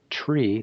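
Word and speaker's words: three: So these are 0, 1, 2, tree, not 3, tree, 4, fife.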